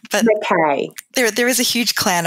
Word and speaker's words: McKay: Hi, it's McKay. But McKay.